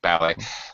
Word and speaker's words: ballet: we're pronouncing the T since we borrowed the word from the French language we also borrow the pronunciation so we have several